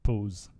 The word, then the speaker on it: pause: Petite pose. Petite pose. Pose. Yeah, you want to say pause like in English, but it's pose.